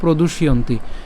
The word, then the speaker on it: প্রদুষ্যন্তি: এখানে যে জফলা আছে, জফলা উচ্চারণ কার মতো হয় আমরা জানি, জফলা উচ্চারণ ইয়র মতো হয়। তাহলে জফলা উচ্চারণ যেহেতু ইয়র মতো হয়, তাহলে এটা কী হবে? ইয়ন্তি, ইয়ন্তি। চাইলে এটাকে আরও ভাঙতে পারেন, প্রয়োজন নাই এত ভাঙার। তাহলে আমরা যদি পুরোটাকে উচ্চারণ করি কেমন হবে? প্রদুষ ইয়ন্তি, আর একসাথে বললে উচ্চারণ হবে প্রদুষ্যন্তি।